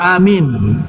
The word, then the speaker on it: amin: Baru yang keempat, baina akhir surat al-Fatihah wa amin, di antara akhir surat Fatihah dan amin tadi. Yang kelima, baina amin wa surah, antara amin dengan surah, di antara itu diam sesaat. Amin, bacanya panjang.